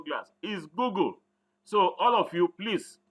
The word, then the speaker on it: Google: G double Oh GED so I had people say go go it's not go go they're two O's there is no bubble like that Google glass is Google so all of you